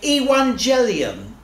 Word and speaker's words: Evangelium: and they would say, Evangelium, from which we get the word evangelist. I won't go into boring details while we pronounce it with a W, not a V.